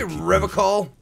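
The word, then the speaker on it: Revachol: Did you say Revocol? I like to pronounce it the hard way.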